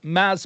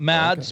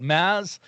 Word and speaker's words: Mads: uh it stars maz mickelson and i believe that is how you pronounce his first name not mads but mass something like that something to that effect